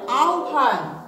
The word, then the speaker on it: আহ্বান: আহ্বান, এটার উচ্চারণটা হবে আহ্বান। আ ও ভয়কার, নয় হস, আহ্বান।